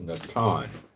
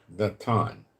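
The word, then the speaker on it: נתן: Now, there's a word for place, and it's Strong's number 5414, and it's pronounced Natan, like Natan, okay?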